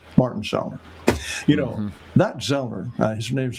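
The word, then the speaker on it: Sellner: You know, that Zellner, his name's pronounced Zellner, Martin Zellner, that is one smart guy.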